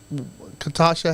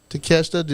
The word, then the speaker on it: Takeshita: Yeah, but they're like, the belt that, like, can you tell me what belt that Katasha has? No. Did I say his name wrong? Takeshita.